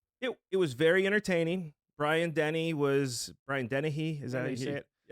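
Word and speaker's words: Dennehy: okay good movie it it was very entertaining Brian Denny was Brian Den is that how you say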